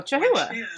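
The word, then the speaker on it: chahoua: pronounce this CH chahua let's look up how to pronounce it but I am here today with a chaha oh chaha I did it right my chahua geckos enclosure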